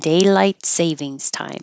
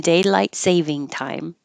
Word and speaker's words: daylight saving time: Winter and daylight savings time. Oh, no S. Winter and daylight saving time.